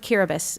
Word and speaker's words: Kiribati: But it's the Republic of "Kiribas," spelled Kiribati on this map. It's how it's spelled.